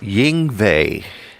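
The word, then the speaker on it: Yngwie: ring vey Malmsteen yes how do you say that again yang vay it's almost like I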